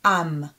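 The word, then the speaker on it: עם: last one we have the silent letter iron and a vowel and then so feet that's going to be am am means nation am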